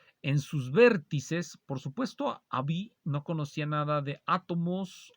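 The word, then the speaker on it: Haüy: acuerdo a un clérigo francés llamado One Just Abi creo que se pronuncia así y se escribe aui pero se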